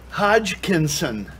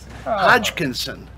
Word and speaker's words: Hodgkinson: Hodgkinson. Hodgkinson.